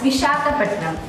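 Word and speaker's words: Visakhapatnam: hi time we stop with pronouncing our city names it's not V it's vishakapatnam it's not pandam it's tandur it's not Bangalore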